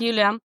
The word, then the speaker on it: Yulia: So, is it, how do I pronounce her name? Is it Yulia who plays Ellie? Ellie? Yulia, Yeah. yeah. Yeah. Yes, Yulia.